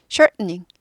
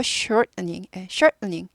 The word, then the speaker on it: shortening: " 쇼닝 , 쇼닝 , 쇼닝 ", 네 , 멈췄다가 "- 닝 " 이라 고 발음 해 요 .